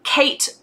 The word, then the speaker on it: Kate Chopin: 96, 1890s for sure, by a writer called Kate, again, okay, how would you pronounce her surname?